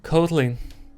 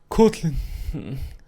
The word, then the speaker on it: Kotlin: Ça se prononce à l'anglaise. Kotlin. Kotlin.